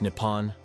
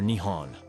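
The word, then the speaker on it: 日本: The name for Japan in Japanese is written using the kanji riben and is pronounced Nippon or Nihon.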